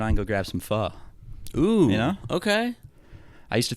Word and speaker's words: pho: They went, it's pho. I wonder if there's anyone that has done like po or anything like that.